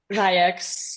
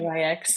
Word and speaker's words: Ryx: So I know you worked with her, for example, or like now, I don't know how to pronounce it, RYX, R- Ryx? Ryex, yeah, Ryex, and his beautiful band.